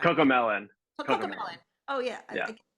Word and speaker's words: CoComelon: He's also worked on advertisements for Netflix, Cadillac, Capital One, and the popular children's brands Chameleon. I think I'm saying it right. Cocomelon.